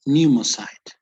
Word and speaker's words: pneumocyte: is uh more theoretical right so what about pronunciation here how would you read this paulia the cell was silent it would be pneumocyte pneumocyte okay okay and the whole term would